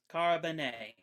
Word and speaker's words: Carbone: It is pronounced Carbone. I understand that it is Spanish in Name origin.